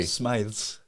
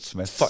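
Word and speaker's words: Smyths: Smythes. Not for you, that. Nah. Would you Nah. pronounce it Smythes or is it Smith? It's Smith.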